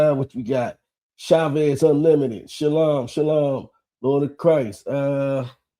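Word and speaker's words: שלום: Um but yeah, and also we don't say shalawan. That's actually the verb, the the actual peace is shalom, brother. That's how you say it in Hebrew.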